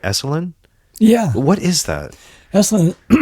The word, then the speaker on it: Esalen: Am I pronouncing right? Esalen?